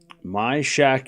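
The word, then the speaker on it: Świątek: My shack is how you pronounce it.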